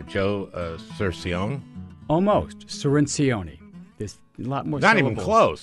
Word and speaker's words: Cirincione: Now, Joe, I got to get your pronunciation right. Joe Cirincione? Almost. Cirincione. There's a lot more Not syllables. Even close. Not more syllables than you think. But you got the C right. Cirincione.